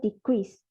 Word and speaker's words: decrease: If the first syllable stress, the word classified as noun, it would sound like the crease. Meanwhile, if the second syllable is stressed, what sounds like the crease, the word is classified as a verb.